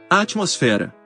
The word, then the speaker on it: atmosfera: Algunas palabras conocidas como heterotónicas son iguales en ambos idiomas, pero difieren en la sílaba tónica. Academia. Academia. Alergia. Alergia. Atmósfera. Atmosfera.